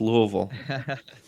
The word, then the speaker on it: Louisville: It's pronounced Louisville.